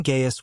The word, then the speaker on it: Gaius: The name Gaius was sometimes written with C, despite pronounced with G-U-H.